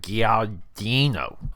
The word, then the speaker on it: Guadagnino: I'm trying to pronounce his last name. It's like Guadagnino.